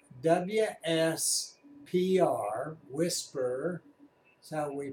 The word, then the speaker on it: WSPR: to the screen anyway the mode is called whisper ws PR whisper so we pronounce it in amateur radio thought you'd find